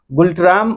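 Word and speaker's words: Ngultrum: मुझे लगता है कि यहाँ 'n' साइलेंट है, आप सभी उच्चारण की जाँच कर सकते हैं , लेकिन यह न्गुल्ट्रम या भारतीय रुपया है।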